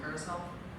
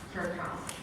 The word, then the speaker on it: caracal: I don't know how to say this one. Carousel. Caracal. Caracat. Caracal. Caracal. Yes.